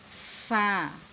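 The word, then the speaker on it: ف: ফা বলতে গেলে উপরের দাঁতের আগা নিচের ঠোঁটের পেটের সাথে বাহিরের দিকে একটু বাতাস বের করে তারপর উচ্চারণ করতে হবে। ফা।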